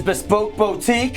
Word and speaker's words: Bespoke Boutique: the first one is bespoke Boutique yes sir it rhymes with Monique and unique it is bespoke Boutique and that's right if